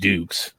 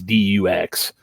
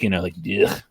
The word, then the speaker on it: Dux: Like I was like, who the hell, So obviously it's pronounced Dukes. It's Dux. But like to me, like it looks like a French name. It looks like it should be Tyson Dugh. Like Dugh.